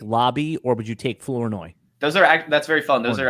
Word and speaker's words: Flournoy: So so Sinnott, Lob, not Lobby, yeah, Flournoy.